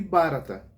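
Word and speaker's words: Bharat: hindustão e pode ouvir barata né ou Como se pronuncia mais intimamente barat né mas o barata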